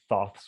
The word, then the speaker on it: Thoth: of the emerald tablets and the book of thoth and things like that so i had an idea and i just so happened to have a cat named both which was what i discovered thoth's way of leaving a breadcrumb trail for me